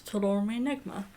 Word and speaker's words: Toul Omri Negma: Right, so from what I can gather, Toul Omri Negma, although according to Google Translate, Toul Omri Negmaton, but as I hear Nancy pronouncing in her song, she's pronouncing it as Toul Omri Negma, which I think, if